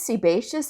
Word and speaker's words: sebaceous: And one day this other coder was like, you know, it's sebaceous. And I go, is that how it's pronounced?